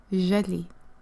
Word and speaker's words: Jalie: jelly jelly jelly so turns out it's pronounced jelly hopefully I've said that